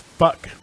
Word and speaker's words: Phuc: And I worked with a guy whose name was PHUC, pronounced fuck.